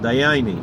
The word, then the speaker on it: Dayenu: So they went, and they were up to Dayenu, and they were from like Poland or Galicia, and so they pronounced it Dayani, and that was the priest's name, Dayani.